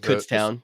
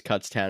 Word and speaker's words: Kutztown: And it's pronounced Kutztown. I hope anybody out there heard that, because everyone says Kutztown. It drives us nuts.